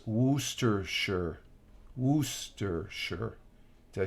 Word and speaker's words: Worcestershire: was talking to Rich oh okay was just pronounce worcestershire Wooster sure did I say that right no problem Helen